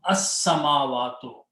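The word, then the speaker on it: السماوات: And al will remove one dhamma, and you pronounce sin twice, not lam. As-samawatu.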